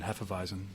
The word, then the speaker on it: Hefeweizen: style is the German Hefeweizen. Great. I never say Hefeweizen, right? Hefeweizen. You kind of have to get the German accent in there just to pronounce it, but Yeah.